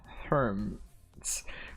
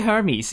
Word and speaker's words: Hermes: i could kind of check the pronunciation of uh herms herms or hermes it doesn't help when there is no okay it's actually hermes yes hermes i should have believed in myself to insist on saying hermes it's actually herpes